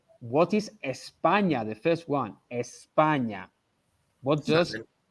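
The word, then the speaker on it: España: on that spania espana espana okay i am if i am from spain we have to pronounce the initial e okay i am from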